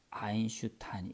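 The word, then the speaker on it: Einstein: 그래서 여기 보시면 아인슈타인 이게 EI가 I 발음 나는 것도 독일 사람들이에요 다.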